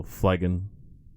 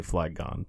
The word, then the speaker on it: Flygon: It's most confusing when the emphasis is on both or neither of the syllables that they're pulling to put together. Sure. Because, like, fly, obviously, has its own emphasis. And then dragon.